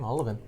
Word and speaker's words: Olivin: Yeah, actually that's the way you say his name, Olivin. The way I remember it and the way he told me was it's like 11. But you have to really roll that O.